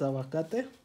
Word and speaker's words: aguacate: So next we put some avocado, which I call aguacato, because in Spanish it's aguacate.